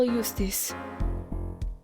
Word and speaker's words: Justice: Apollo Eustace. So they do pronounce J as Y.